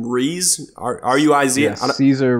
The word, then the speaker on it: Ruiz: Ruiz? R-U-I-Z? Yeah, Cesar Ruiz.